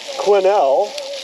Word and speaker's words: Quesnel: I get to uh quinel yes is silent BC to dereck's place